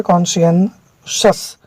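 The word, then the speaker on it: conscientious: ठीक है, कॉन्शियंसस, इसका उच्चारण हो गया कॉन्शियंसस।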